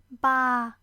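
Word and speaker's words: バー: So this word should be pronounced like ba. It's not the sound of a goat, but means bar, like the place where you drink.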